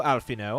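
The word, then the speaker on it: Alphinaud: Hello, Alfino. I've never seen a name where the D is silent.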